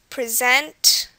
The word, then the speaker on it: present: One rule is that most 2-syllable verbs this will happen in most 2-syllable verbs, that the stress will be on the last syllable, just as we saw here. Present, export, decide, begin. These are examples of words where verbs, where the syllable, or the stress syllable is the second one.